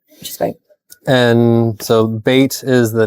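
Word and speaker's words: bayt: is great and so bait is the name of the restaurant and it comes from the Arabic word for home for home it's pron it's spelled b a y see some baits and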